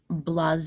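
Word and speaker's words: blasé: sometimes belittled his students this next word is blase is how you pronounce it it's an adjective meaning uninterested or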